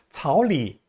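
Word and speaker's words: 草里: 草里 할 때 리는 원래 제3성이에요. 근데 이 경우도 역시 약하게 경성으로 발음하는데요. 草 도 제3성, 리도 제3성. 그래서 草 를 제2성으로 발음해 줍니다. 草里一只兔, 一只 한 마리고요.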